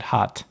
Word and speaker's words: hat: bislama actually means heart they would pronounce it hot muh you know you hot good right so I I